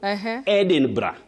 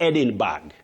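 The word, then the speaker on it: Edinburgh: Edinra Edinra, not Edinburg.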